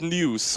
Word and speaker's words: Nuis: Hey, I've always said it at news, as in like a newspaper. I've been told that's how you say it.